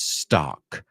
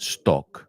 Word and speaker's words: stock: word is stock stock does that sound like an o not at all so it's not Stu Stu it's ah stock you know when you go to the dentist or the doctor and you got to open your mouth you go Ah Ah that's the sound Stu you know it